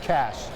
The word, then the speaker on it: Cache: It's just cash. Oh, cash, of course.